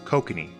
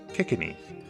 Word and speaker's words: Kikinee: as a note most often these types of fish are called kokanee but to the ceiling nation they were referred to as kikini just a slight change in the pronunciation since the bay near